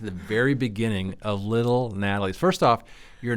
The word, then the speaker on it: Nathali: Um it's pronounced Natalie.